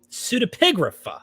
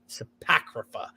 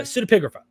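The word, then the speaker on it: pseudepigrapha: cineprographica now sort of how do you pronounce this i always jack up the word pseudo pseudipigrapha see i always call it supacrafa uh pseudopigrapha i'm i think i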